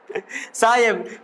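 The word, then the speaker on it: ψ: पसाई, साय पीप silent है ना, ऐसे लिखा जाता है भाला के जैसा, ये काम पड़ेगा।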